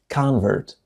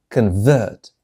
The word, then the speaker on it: convert: معتنق لديانة أخرى، فتنطق convert. هذه الرموز تبين لنا طريقة نطق هذا الفعل. إذا كان فعلا ينطق convert، أما إن كان اسما فينطق convert، أو بالنطق البريطاني convert المعتنق لديانة أخرى.